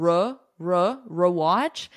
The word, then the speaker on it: rewatch: And notice for pronunciation, re, e. I'm not doing like a schwa sound, re-watch. American pronunciation, we love our unstressed schwa sound in our throat here, but I'm not doing that. This is a full E, re, rewatch, rewatch. Watch it again.